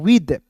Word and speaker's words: with: देखिए HAPPY happy, इट, PLAYS pledge, विद, WITH विथ नहीं पढ़े, इसे पढ़ेंगे दोस्तों विद। ठीक है, विथ नहीं पढ़िएगा, विद, टीएच का द के रूप में उच्चारण।